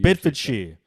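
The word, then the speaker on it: Bedfordshire: with chris george from bedford shire is that how you pronounce it you could say it like that that's for sure it's the way we bid for cheer east of england east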